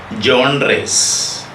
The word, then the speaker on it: genre: are going on to the next topic film john rays you know don't get afraid of different pronunciation of john race it is pronounced as